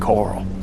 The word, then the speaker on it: Carl: for those folks for Lor L and coral or Coral as it's apparently pronounced and it's also left